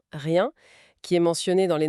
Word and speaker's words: rien: Et la prononciation nasale de rien, rien qui est mentionné dans les notes, c'est pas juste un son à imiter, c'est un son qui porte cette émotion.